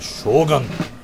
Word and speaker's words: shogun: The shogun, you've got to say it right. It's like shogun.